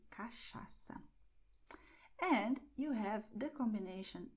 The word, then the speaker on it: cachaça: And this combination here, CH, has the sound of show. So you say cachaça.